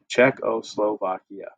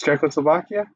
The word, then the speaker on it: Czechoslovakia: how you say it czechoslovakia when you see c and z next to each other pretend like it's ch in english okay so see if